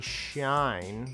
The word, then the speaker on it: Schein: Henry Schein. There's no T in there.